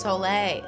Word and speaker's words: Soleil: try for future reference my name is pronounced Soleil Soleil like thus isn't that oh no never mind I was thinking of something else but so lay like isn't that like um